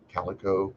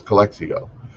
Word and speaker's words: Calexico: and I think that's Calexico I'm not sure how to pronounce that I'm from Southern California I don't know Calexico California Calico no it's Calexico U.S border Patrol agents